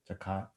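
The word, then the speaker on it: תחת: Takath.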